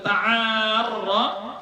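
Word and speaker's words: تعارّ: Rasulullah sallallahu alaihi wasallam, ta'arra, yang di awal hadis tadi, man ta'arra, itu kayak mana cara bacanya? Huwa bi tasydhidir ra, dengan mentasydidkan ra.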